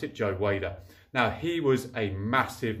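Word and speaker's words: Joe Weider: press now most of you will probably know Joe wider wer depending on if you're in the UK or America or anywhere else it's pronounced in different ways but I'm pretty sure and I pronounce it Joe waiter now he was a massive massive person Mogul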